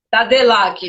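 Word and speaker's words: Tadelakt: Tem gente perguntando aqui qual o nome da técnica, é Tadilac. Eu vou escrever aqui para vocês verem. É Tadilac que pronuncia, né? Isso. Tadelac, né?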